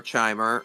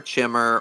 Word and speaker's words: Chimer: the time period of the kimer or chimer or chimmer or Kimmer or however you pronounce it if you don't say kimer I'm your enemy though yeah I'm pretty sure it's kimer but you know there's